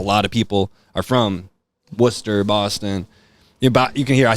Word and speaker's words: Worcester: You're going to hear Boston terminology because a lot of people are from Worcester, Boston. You can hear I say Worcester.